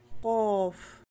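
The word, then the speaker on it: ق: okay ulitin natin to do ain gin fa kof kof kabilang din ito sa heavy letter sa pagbigkas nito ang posisyon ng dila naa pinakamalapit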